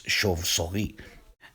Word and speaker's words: chauve-souris: For starters, the CH in French is pronounced sh, but there's a lot